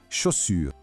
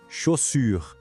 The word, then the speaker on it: chaussure: Exatamente como o som do X na palavra xícara. Guardou? Chaussure, chemise.